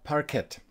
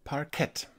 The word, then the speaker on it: Parkette: El Parker Parkette o "Parketti", porque se escribe con otra "e" al final pero creo que Parkette o "Parketti" debería ser correcto y acertado.